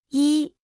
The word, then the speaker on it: 一: 一，一，一，一，一，一，一。 Se pronuncia con el primer tono.